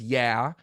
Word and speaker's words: YA: And we called it YA, which we sometimes pronounced as yeah. Some of the people pronounce it that way.